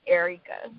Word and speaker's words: Aireka: But it's the same way that it's spelled is Aireka, so it's Aireka. So. Aireka. All right, good. So, yeah. All right. So I was just a little off. I said air. Yeah, so Aireka.